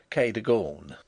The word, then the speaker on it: Cadogan: Improbable as it may appear, my housekeeper was called Cadogan, a name made locally possible by being pronounced Kay-de-gawn.